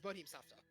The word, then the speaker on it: Bodhisattva: Oh, so it's Bodhisattva.